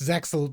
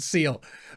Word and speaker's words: Zexal: Also the reason I know that it's not pronounced Zexal, but Seal.